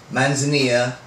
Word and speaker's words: manzanilla: as manzania okay or it's manzanilla if you you know it looks manzanilla but in spanish manzanilla okay real quick this is how you're going to pronounce that manzanilla is a spanish word for chamomile there you go and